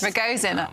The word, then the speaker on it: Ragozin: Ragozin. OK, that's the correct pronunciation.